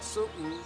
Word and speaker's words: sudden: sudden really really well you have to be careful with the first syllable son it's a sudden that suit then Susan now it's a sudden with the pronunciation of the glottal stop that's why it's called